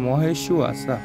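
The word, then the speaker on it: মহেষ্বাসা: কারণ আমরা জানি যখন অন্তস্থ বয়ের উচ্চারণটা হয় উ অ আর সাথে আছে আকার, তো এই শয়ের নিচে একটা ব আছে, এই কারণে আমরা এটার উচ্চারণ করবো মহেশু আশা।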